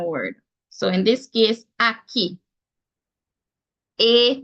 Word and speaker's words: Aki: of a Jamaican word so in this case Aki a k i Aki the other vowel the